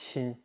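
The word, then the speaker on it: 心: Now, the interesting thing about this term, which I pronounce xin in Mandarin, is that it has different layers of meaning.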